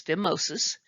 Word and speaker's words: phimosis: uh filmosis and note here the pH is pronounced as an F so this is phimosis It's a tightness of the purpose of the